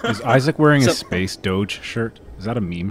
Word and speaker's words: Doge: Is Isaac wearing a Space Doge shirt? Is that a meme shirt he has on? No. He's back in the space jacket, actually. Yeah, and by the way, it's pronounced Doge. Get it right. Dog.